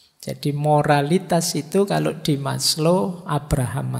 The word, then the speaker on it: Maslow: Jadi moralitas itu kalau di Maslow, Abraham Maslow, ini bukan Maslow membacanya. Maslow itu nama, jangan dibaca Mas itu ya Mas, Low itu rendah, jadi Mas yang kelas rendah. Enggak. Maslow itu lengkap.